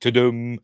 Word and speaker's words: Tudum: how do you pronounced is it to them yes because that's what it does at the beginning when it does the